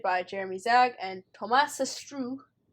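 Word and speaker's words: Astruc: Jeremy Zag and Thomas Sestrou. It has a C at the end, but you don't pronounce it because French.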